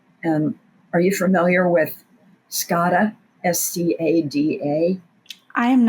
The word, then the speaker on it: SCADA: It's pronounced SCADA, yes, ma'am.